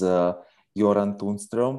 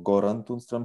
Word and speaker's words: Göran Tunström: His name is Göran Tunström, or Göran Tunström, sometimes he's pronounced.